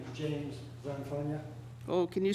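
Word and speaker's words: Zanfagna: Just like it sounds. Rhymes with lasagna.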